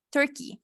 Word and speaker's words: Turkey: Turkey, ajá. Tur, Ajá, con una U. Tur, Turkey. Turkey, Ujú.